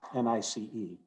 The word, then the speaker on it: gneiss: piece of 4 mile gneiss that I have right here. This is characteristic 4 mile gneiss, but not all gneiss. By the way, gneiss is spelled G-N-E-I-S-S. It's pronounced N-I-C-E, but G-N-E-I-S-S is nice.